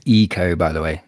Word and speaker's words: Ico: It's Eco, by the way. The Japanese I is pronounced E.